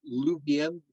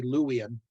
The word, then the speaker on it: Luwian: louisian sometimes I say lubien as of you know it's it's it's a German part of me uh pronouncing uh W's as V's but it is supposed to be louian but you'll see me